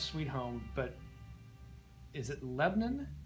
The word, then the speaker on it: Lebanon: I know how to pronounce Sweet Home, but is it Lebanon? How do you pronounce your the city? Lebanon. Lebanon? I put the A in it. Okay, A Lebanon. lot of people just says Lebanon Yeah.